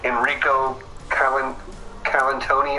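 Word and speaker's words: Enrico Colantoni: feel like he does um matthazar's actor again enrico colin calantoni i think is how you pronounce it just so good um we i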